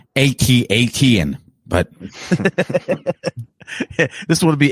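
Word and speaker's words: AT-AT: like you couldn't come it's pronounced atat but this would would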